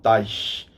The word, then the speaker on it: Teich: Ele é descendente de alemão, então a pronúncia é essa mesma, Teich, que eu me lembrei